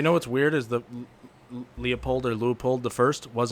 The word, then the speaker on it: Leopold: important are you talking about leupold the second leopold i think you keep saying loophole that's what uh when i was watching videos